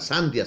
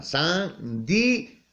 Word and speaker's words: sandía: a comprar una sandia, no digo una sandia, sino una sandía, está separado. Si ven que las dos vocales, la I y la A, que se encuentran ahí, no se pronuncian en la misma sílaba, sino se pronuncian separados, ¿ya?